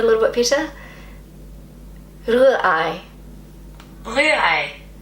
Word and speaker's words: Rührei: Rührei. See, I keep wanting to just roll my R's, but the proper German pronunciation is more in the back of the throat.